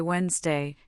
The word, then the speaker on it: Wednesday: In the common word Wednesday, we actually say Wednesday, completely dropping the first D.